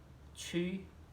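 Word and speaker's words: 去: अब देखिए दोस्तों, छी को आप हिंदी में लिखना चाहें तो छी लिखें, या फिर इंग्लिश में लिखना चाहें तो CHHUI या CHHYUI, जैसा आपको कन्वीनियंट हो, पर प्रोनाउंसिएशन ऐसा आना चाहिए, छी।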